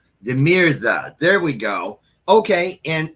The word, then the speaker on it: De Mirza: would you say it properly please it is deira I had completely wrong deira there we go okay and is that an